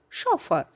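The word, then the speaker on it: chauffeur: सी एच, यहाँ पर सी एच का जो प्रोनाउंसिएशन है वो है श, CHAU, शॉ, शॉफर।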